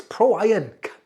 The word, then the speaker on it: PROiron: I looked at it going, PROiron, and I went, it's PROiron. Duh!